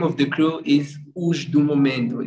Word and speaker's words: Osdomomento: Osdomomento. Osdomomento. It's like momento. Momento. The meaning of momento is like moment.